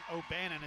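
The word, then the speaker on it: O'Bannon: of Bryan Abramson it's oanon obannon is how you say it Travis obannon he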